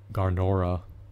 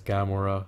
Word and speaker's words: Gamora: $20 neither is um garor I believe that's her name or moniker maybe and is pronounced actually it's Gamora sorry about the blunder it's